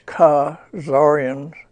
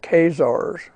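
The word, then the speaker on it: Khazarians: and not not k so it's ca zaryans not casars similar method same reason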